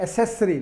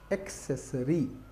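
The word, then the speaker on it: accessory: इसको लोग गलत प्रोनाउंस करते हैं, वो कहते हैं एसेसरी, नहीं, इट इज़ एक्सेसरी, का है बीच में, हाँ।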